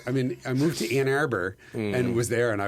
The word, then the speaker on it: Ann Arbor: In Ann Arbor, Ann Arbor, it's pronounced.